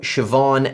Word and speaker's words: Siobhan: I'd suggest you try pronouncing these traditional Irish names. That would be Niamh, Siobhan, and Kiva.